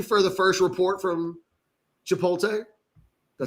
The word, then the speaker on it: Chipotle: we're waiting officially for the first report from Chipotle.